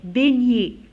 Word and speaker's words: beignet: Beignet, la même chose, on a B, E, I, ça prononce E. Beignet, E, T, se prononce E. Alors ici, on a fait sortir le ER qui se prononce E. Et ici, on a fait sortir le GN qui se prononce YA. Alors regardez, GN se prononce comme Y. Ya, beignet.